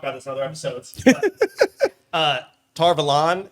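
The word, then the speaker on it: Tar Valon: this other episodes uh tar velon how we all pronounced it from the valley anything else uh sounds a lot more like avalon than torvalen which is what we've all been saying and i think it's supposed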